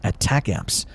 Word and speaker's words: ATACMS: is a long-range missile and is pronounced as attack amps it can strike targets